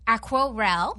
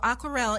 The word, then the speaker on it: Aquarelle: And your company is called Aquarelle. Yes. Yes, I said it right. So tell us about that. Sure. So Aquarelle is an online network.